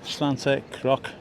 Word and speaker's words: Santa Croce: Behind me is Santa Croce.